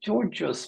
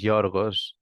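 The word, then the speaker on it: Giorgos: like Emma is easy I want to say Georges but I think that's not the right pronunciation so I do apologize but could you please introduce yourself and tell us where you're from and what you're studying here at Lynn University thank you yeah my name is jorgos that's the pronunciation but I mean I'm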